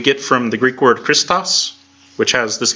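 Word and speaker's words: Χριστός: Christo's we see Christ we don't say Christ we don't have the CH in there we don't have we pronounce it with lake more or less a regular C sound we transliterate it with age but that doesn't mean we pronounce it that way and they can get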